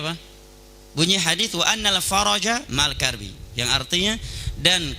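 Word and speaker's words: الفرج: Bunyi hadis wa annal faraja ma'al karbi, yang artinya dan kelapangan itu bersama kesulitan. Tapi kalau dia membacanya wa annal farja, bisa ditembak pakai AK-47 sama orang Yaman dia.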